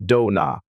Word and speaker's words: Dona: And so the name Dona Drake pronounced Dona, which sounds more foreign than Donna was born.